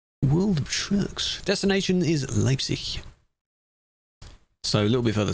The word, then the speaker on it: Leipzig: Leipzig. You say it like, you don't say it Zig. Any of them ending in G, you don't say the G.